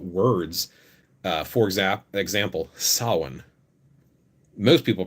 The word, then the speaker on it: Samhain: realize this but words uh for example example sawin most people pronounce it right some people say samhain because they don't know yet sawin is actually